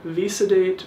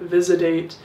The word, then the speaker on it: Visodate: would actually recommend is the TSO visodate or visad dat however you would like to pronounce it um I actually